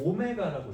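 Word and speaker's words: ω: 사실이 W는 오메가라고 읽습니다. 그냥 보통 W랑은 조금 다르게 둥글둥글하게 써 있죠. 마치 숫자 3이 좀 누은 거 같이 생겼는데 여기가 살짝 이게 삐져나가네요. 저건 이제 스고 얘를 오메가라고 읽습니다. 오메가 어쨌든 w 읽어도 돼요.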